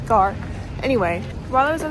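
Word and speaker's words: Gare: All right, that is Gord, which first of all, I have to correct myself. I said Garrett before. I always say it wrong cuz there's an E in the word, but it's not. It's Gar.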